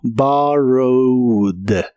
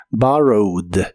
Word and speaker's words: borrowed: En el pasado es borrowed, es un verbo regular, así que aquí termina con e d, aunque solo se pronuncia la d como barrowad. Barrowed en el pasado lo puedes usar en ideas como he borrowed my phone for a minute.